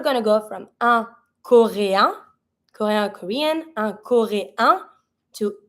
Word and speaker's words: coréen: So un coréen, I don't pronounce the N because en together make the sound un.